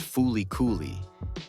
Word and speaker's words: FLCL: the video 10 flcl flcl pronounced foly is short even by